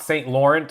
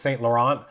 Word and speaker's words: Saint Laurent: pronounced differently saint laurent it's not saint lawrence it's saint laurent the goyar is no